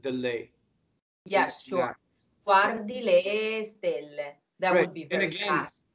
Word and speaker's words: stelle: The word for stars in Italian is an accented E that's closed, right? So accented syllables in Italian, you must memorize them. There are some formulas, but you have to know every single word. You have to know exactly whether it's open or closed.